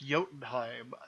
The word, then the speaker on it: Jotunheim: chilled I am ok that doesn't work as a ride because it's pronounced Jotunheim that is something I